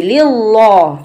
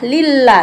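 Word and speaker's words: لله: Kalau tebal bacanya begini, lillah, tapi ini adalah lillah, la. Kalau tipis itu ciri-cirinya la, kalau tebal lo, begitu. Lillah, lanya panjang sedikit, numpang lewat, mat tabi'i saja.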